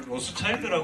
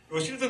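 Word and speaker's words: Rothschild: 어 샤 라데 로실드 로드는 우리나라에서는 로스차일드 전에 그 기업 유대인 기업이죠 그죠 있었는데 유대인 기업인데로 이 로실드 발음합니다 그래서 어 그 어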